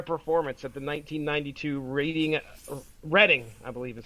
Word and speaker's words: Reading: daring of their performance at the 1992 reading reading I believe is how you pronounce a Reading Festival the band experienced technical